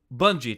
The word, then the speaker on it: Bungie: Bungie. Thank you. I was trying to pronounce it in my head.